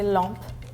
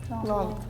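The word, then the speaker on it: lampe: so those interesting Lump Lump I think it's like written same as German but in French we don't pronounce the e at the end so that's why it's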